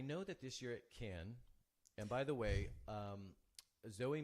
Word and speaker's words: Cannes: I was saying, but it turns out it's Cannes. Oops, I'm looking at the wrong camera. For all of you who want to say it right, of course, we already know not to say the S. Right. But I was getting the A wrong.